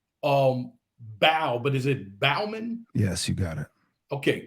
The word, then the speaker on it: Bauman: off it's Joel um bow but is it Bauman yes you got it okay just want to